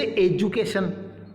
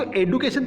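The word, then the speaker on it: education: भी स्पेलिंग के अंदर, आप इसे डू मत पढ़ना, ध्यान रखिएगा बच्चों, कभी भी इसको डू मत पढ़ देना, इसको जू पढ़ोगे आप। कैसे पढ़ोगे, जैसे एजुकेशन, अब आप इसको एडुकेशन थोड़ी बोलेंगे, एडुकेशन।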